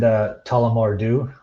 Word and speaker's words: Tullamore Dew: I've had someone mentioned Tullamore Dew. Is that how you pronounce that?